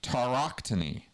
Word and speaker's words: tauroctony: And the central right was the Okay, I'm going to pronounce this word tauroctony.